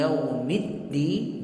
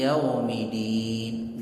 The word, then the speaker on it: yaumiddin: Misalnya maliki yaumiddin, dalnya bertasydid, dia nggak pakai tasydid. Maliki yaumiddin, nggak sah salat.